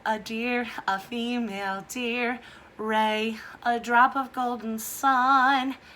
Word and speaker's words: re: like a sunshine Wraith like the little beams that are coming out of the Sun called ray but this one is actually spelled are e doe a deer a female deer ray a drop of Golden